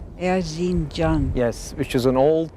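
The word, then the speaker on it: Erzincan: I know I could never pronounce it. It's called Erzinj. Erzinj.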